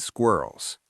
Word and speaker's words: squirrel: The squa cluster at the beginning can be hard.